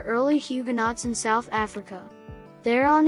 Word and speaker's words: Theron: huguenots in south africa thereon is an oxyton surname pronounced in afrikaans as she grew up on